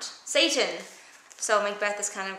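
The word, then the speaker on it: Seyton: Whose name is Satan. But it's not spelled like the devil. Satan, I am sick at heart when I behold.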